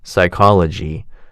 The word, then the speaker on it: psychology: Silent P for receipt, psychology, and silent K for no, knee, knife.